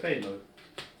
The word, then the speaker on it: phthalo: How do you pronounce it? Phthalo. PHTH. Phthalo. Oh, so easy.